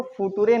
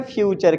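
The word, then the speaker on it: future: है फ्यूचर है ना इसको फूटूरे नहीं कहेंगे ये फ्यूचर क्या है जैसे फर्नीचर क्या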